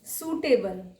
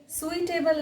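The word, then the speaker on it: suitable: सूटेबल, आई इसमें silent है, सुइटेबल नहीं, सूटेबल।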